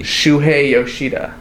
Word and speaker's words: Shuhei Yoshida: it's which is really just a cloned PS3 Shuhei Yoshida I think it's the first time you've ever pronounced his name correctly show monodo um what's